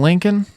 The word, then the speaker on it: Lincoln: love collecting Lincoln pennies I hate how Lincoln is spelled I know that letters can be silent and I know that my name has a silent letter in it but the last l in Lincoln grow up or per